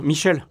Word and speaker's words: Michel: fois maintenant vous savez excuse-moi Miguel ça se prononce à la française Michel mais je sais ce